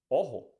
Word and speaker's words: ojo: the next one is o o you can find this sound in words in English like hot or in Spanish like Ojo is the same sound hot oh you pronounce Ojo which means I in